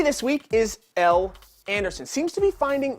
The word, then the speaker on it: Elle: Think of other words that end in L-E, okay? This does not say bicycle-y.